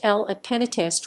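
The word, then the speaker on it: Le Pénitencier: french by johnny halliday his version titled le penitencier pronounced l at penatist was released in october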